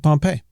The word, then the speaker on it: Pompeii: That's the town. The town is Pompeii. The general, Gnaeus Magnus Pompey, is Pompey.